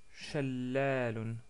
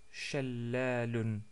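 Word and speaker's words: شلال: Notre mot aujourd'hui, c'est le mot Shallalun, Shallalun ou Shallal tout court si on s'arrête sur le mot.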